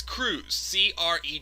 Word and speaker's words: Crews: Remember Miz calling Apollo Crews Apollo Creed? Yeah, and Apollo Crews had to actually spell it out too. It's Crews. Crews.